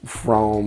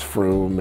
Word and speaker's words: Frome: fun of me and the way I pronounce, like, Frome, I say when it's Froome, and so I try not to pronounce too many English towns.